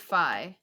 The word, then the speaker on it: Fi: thing with um with phi which i i looked it up and it's supposed to be five like rhyme with sky apparently according to nintendo so anyways i feel